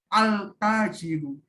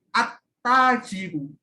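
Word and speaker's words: التاجر: Jadi contohnya kan kalau letter lock-nya kan al-tajiru, tapi itu salah bacanya. Harus dibaca at-tajiru. Lamnya tidak dibaca sukun, tetapi huruf samsiyahnya di tasdid.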